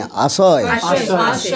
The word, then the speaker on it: आशय: आशय स्निग्ध सतु बरे, आश्रय नहीं आशय, आश्रय और आशय दोनों में अंतर, यही तो आपके प्रोनाउंसिएशन